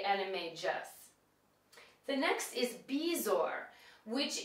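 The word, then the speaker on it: Animagus: transform into an animal now it looks like it would be anime Gus but it's actually anime J the next is beor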